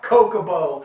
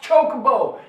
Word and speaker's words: chocobo: chicken's nuts cocoa bowl it's not kokobo i don't want to hear any comments about how it's coke you pronounce it kokobo no it's not it's chocobo be glad i know